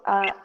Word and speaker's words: bought: Kaito, Bought Kaito a new bought console. games, console. Aquí, por ejemplo, está bought. No se pronuncia la G.